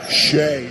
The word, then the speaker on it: Shea: And I'm glad you said Shay because our executive producer Pete Sakone corrected me and said you pronounce the name Sheay, not Shay.